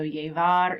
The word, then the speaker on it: llevar: So double L's, we know, make a Y sound. You are welcome to do the V as in victory, or you could pronounce it B as in boy. So llevar is to wear.